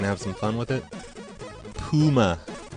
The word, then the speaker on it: Pyuma: Puma. Principal Lewis says it's pronounced Puma.